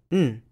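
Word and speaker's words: 'n: The indefinite article is pronounced as a syllabic nasal, n.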